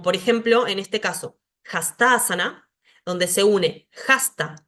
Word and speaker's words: hastasana: el acento en la sílaba fusionada entonces para pronunciar esto voy a decir hastasana donde está acá el el subrayado vemos ahí